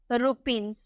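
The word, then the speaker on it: rupees: क्यों, क्योंकि एस से पहले E देखने को मिल रहा है, एस से पहले अगर आपको डबल ई देखने को मिलेगा तो उसका उच्चारण हम जॉ में करेंगे, हम इसे बोलेंगे रुपीज।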